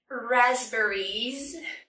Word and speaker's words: raspberries: First, the stress. We cannot put any stress on the third syllable. There's only one stress, it's on the first syllable. Raspberries. The second syllable is not it's air. Air like hair and chair.